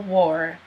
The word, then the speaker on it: war: W, or. It sounds kind of like an O. W, or, war, war, war.